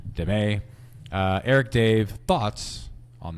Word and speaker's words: Damet: Uh it looks like Damn it, but I believe it's pronounced Demay.